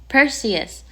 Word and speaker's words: Perseus: Perseus.